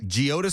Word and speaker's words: Geodis: the new stadium name geodis am i saying that properly geodes park geodes park that's the pronunciation i like park i